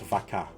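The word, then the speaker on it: vacă: Vaka is cow in Romanian pronounced vaka.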